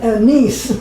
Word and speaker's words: Nice: Is it pronounced Nice or Nice? It says you taught. Nice.